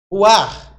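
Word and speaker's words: רוח: né não sei relaxa o ch é pronunciado como dois erres tá você pronuncia o nome hebraico ou ch como se fosse dois r o arranhado o ar lá então pneu pneuma do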